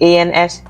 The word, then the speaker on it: ans: You see the ANS? The S is silent.